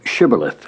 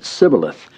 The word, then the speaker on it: shibboleth: said now unto him say now shibboleth and he said sibileth for he could not frame to pronounce it right he was a